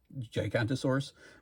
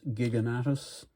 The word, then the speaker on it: Giganotosaurus: I always thought it was pronounced Gigantosaurus, but it's Giganotosaurus.